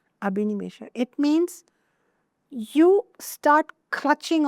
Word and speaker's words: abhinivesha: It means abhinivesha, A-B-H-I, abhi, N-I-Ni, abhinivesha, V-E-S-H-A, abhinivesha.